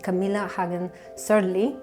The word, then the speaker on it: Camilla Hagen Sørli: have the pleasure to be in London with Camila Hagan serly did I pronounce it in the orig way yes very